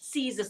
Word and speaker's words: scissors: Scissors. The spelling is a bit different. SC is representing the sound S.